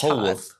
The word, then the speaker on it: Polwarth: Still don't know how to pronounce it. That's Polwarth.